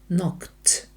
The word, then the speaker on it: knocked: ми додаємо до нього закінчення ід яке читається Т КТ тому що звук к глухий задаємо запитання виносимо наперед